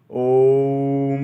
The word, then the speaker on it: ओम: में ओम का उच्चारण ओम का उच्चारण भी कैसे करना है ओ ऊ और म ये तीन शब्दों का वाइब्रेशन आप के हलक से निकलना चाहिए पहले ओ से फिर उ फिर म और म का उच्चारण ज्यादा देर तक करना जैसे कि ऐसा ओम